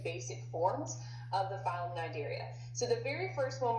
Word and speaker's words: Cnidaria: And if you notice in the picture, phylum Cnidaria, and the C is silent, so Cnidarians, encompass our jellyfish, our sea anemones, and our corals.